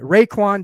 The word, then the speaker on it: Raekwon: How do you pronounce that first name? I'm bad at that. Raekwon Davis.